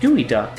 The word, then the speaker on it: geoduck: is a Seattle specialty it's actually pronounced gooey duck and of course it's